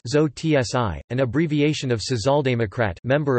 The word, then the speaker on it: Sozi: coined in response to the German term Sozi, pronounced Zo-tsi, an abbreviation of Sozialdemokrat, member of the Social Democratic Party of Germany.